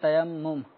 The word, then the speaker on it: تیمم: پڑھ ہی دیتے ہیں، تو اب تیمم کو تیمیم بھی پڑھتے ہوں گے۔ تو اصل یہ لفظ تیمم، اور الحمدللہ امیر اہل سنت کے جو کتب اور رسائل کے اندر یہ تلفظ کی درستگی کا اہتمام کرنے کے لیے اعراب کی بھی ترکیب بنائی جاتی ہے تاکہ اسلامی بھائیوں کو پڑھنے کے ساتھ ساتھ درست تلفظ ہے، درست تلفظ کرنا بھی آتا ہے۔ تیمم اصل لفظ ہے۔ تو ابھی تیمم کے